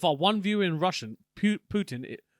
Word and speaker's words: Putin: If our one viewer in Russian, Putin, how do you say it? Putin.